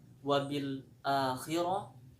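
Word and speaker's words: وبالآخرة: Kemudian wabil akhirah. Huruf alifnya cukup dua harakat. Khas mad badal dua harakat. Kemudian huruf rnya menggunakan ro tafhim atau ro tebal.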